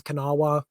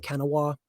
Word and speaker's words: Kanawha: Like I say, I mispronounce Kanawha. I keep saying Kenawa.